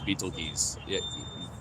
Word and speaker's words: Betelgeuse: If you actually, like, pronounce it correctly, it's Betelgeuse.